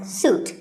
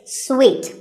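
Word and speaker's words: suite: in a hotel and this is wrongly pronounced by many people as soot but it's sweet like when you eat a piece of candy sweet and while we're on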